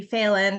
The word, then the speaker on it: Phelan: Katie Phelan, that's how she pronounces her name.